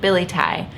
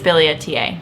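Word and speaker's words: billietiae: Yes, I've always pronounced it biliaceae, but I think it's biliaceae.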